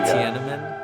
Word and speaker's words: Tiananmen: do you say it how do you say it what is it Tiananmen yeah you got it hey that shirt was